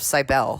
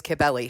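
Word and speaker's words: Cybele: was referring to it as the cult of sibel because that's kind of how it's spelled so I'm sorry about that if if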